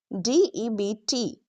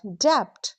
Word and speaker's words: debt: Silent B usually comes after M or before T. So when you see MB at the end of a word to not pronounce B right let's see examples as T h U M B thumb C O M B com D E B T debt not dep u B T not subtle it's subtle L M